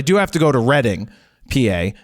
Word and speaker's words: Reading: have to go to Reading PA not Reading PA even though it's spelled re e a d i n g it's somehow Reading PA because that's where the